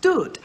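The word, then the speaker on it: דוד: As a matter of fact, there is a Hebrew word which means beloved or uncle, and it is pronounced Dut, which is where the name David has its etymology.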